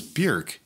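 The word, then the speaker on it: Björk: name and she goes bjerk it rhymes with jerk and i just thought that was really funny that is really funny i'm gonna call her bjork because i i don't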